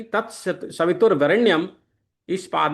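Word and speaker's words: वरेण्यम्: वरेण्यम के स्थान पे वरेणियम ऐसा पढ़ना चाहिए। त ता सा भी त वार रेणी यम इस तरह उच्चारण करने पर पहले पाद में आठ अक्षर हो जाते हो जाएंगे।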